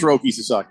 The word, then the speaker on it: Roki Sasaki: It is Roki Sasaki.